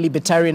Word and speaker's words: libertarian: you pronounce this willis the only part that uh you didn't get uh correctly jesse is tyrion not tyrion tyrion tyrion you say libertarian that is a person